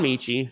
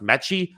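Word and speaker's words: Metchie: might actually be pronounced metchy i've been pronouncing it michi this entire time i think it's might be metchy actually there is a t there so i guess that makes sense listen pronunciation not really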